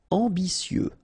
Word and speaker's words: ambitieux: Ambitieux. Final X not pronounced, and then remember that you get this T, I, and then vowel, so si.